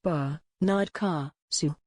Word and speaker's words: Barnard Castle: But many, including newsreaders, said the name of the northeastern town incorrectly, as it should be pronounced Barnard Castle. Brackets show the phonetic pronunciation Barnard Castle, Barnard Castle, a market